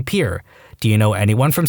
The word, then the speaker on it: Pierre: capital of South Dakota Pier wrong. She kept saying Pierre, two syllables, like the French name, and he said it was pier, one syllable, like what you fish off of.